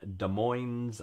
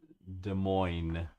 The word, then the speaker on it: Des Moines: You do not pronounce the S in Des Moines. All right, my bad. Yeah, I did get Des Moines.